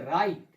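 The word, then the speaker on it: write: नहीं पढ़ेंगे, क्या पढ़ेंगे, राइट, wrong, रिस्ट, रेथ, रिंकल, Regal. देखा किस तरीके से उच्चारण होगा, यानी जो ये डब्लू है ये क्या होगा हमारा, साइलेंट लेटर होगा।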